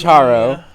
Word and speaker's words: Charo: very big fan of Charo. Is her name Charo? Mm-hmm. Okay. Charo. Sorry, I said it wrong the first time. You said it wrong, and now you've got It's Charo.